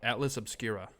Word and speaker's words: Atlas Obscura: it is atlas obscura cool ok atlas being a map obscura being